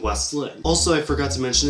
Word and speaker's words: West Linn: do but you know clamus willit weslin no it's clus will liit and Westland also I forgot to